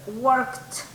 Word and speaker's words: worked: So you must pronounce that verb in past with T. That is worked. Worked. Right? The T at the end.